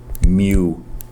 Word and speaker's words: mu: You actually pronounce that mu like a kitten.